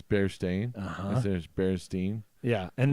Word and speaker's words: Berenstain: bears Oh bears dying actually I think it's bear stain it's bear stain there's bears Dean yeah